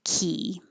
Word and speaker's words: quay: But I think most people are going to say key. And I would not have guessed that from that spelling.